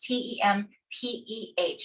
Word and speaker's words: tempeh: It is spelled t. That's tem pH if you're looking it up or looking for it in the grocery store.